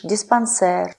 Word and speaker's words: диспансер: А слова, пришедшие с французского языка, произносятся с ударением на последний слог. Жалюзи, фетиш, диспансер и другие.